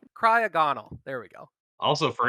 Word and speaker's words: Cryogonal: You flipped your G and you're in. Cryogonal.